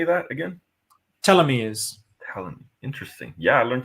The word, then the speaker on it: telomere: Telomeres.